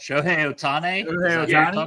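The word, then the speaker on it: 大谷翔平: I can't even pronounce it right. Show Otane.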